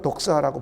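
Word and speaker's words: δόξα: 이 영광이라는 말 독사, 뱀 독사가 아니라요. 헬라 말로 독사라고 발음을 해요.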